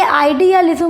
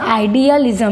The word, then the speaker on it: आइडियलिज्म: लिज्म आना चाहिए था तो देखिए आइडियलिज्म में जो बीच में ये एल वर्ड आता है यह बीच के अक्षर जो है उच्चारण की सुविधा के लिए यूज किया गया है आइडियलिज्म में क्योंकि जो आदर्शवाद है उसको इंग्लिश में आइडियलिज्म कहा जाता है आइडियलिज्म लेकिन इसको बोलने में आसानी हो इसलिए यहां पर एल वर्ड